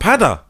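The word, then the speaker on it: Peadar: Patter is like the Gaelic of Peter. I'm an Irishman, you know, from West Belfast. Patter. Patter. Yeah. Or Patter. Did I say it right? Yeah. Patter. Yeah. You can pronounce it with like the D or the T in the middle.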